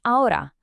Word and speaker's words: ahora: It is always silent. You'll see it written all the time in words like hola and ahora, but you will never, ever hear it pronounced.